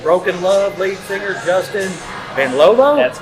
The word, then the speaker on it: Benlolo: and I'm with broken love lead singer Justin Ben loo that's right I got it R the first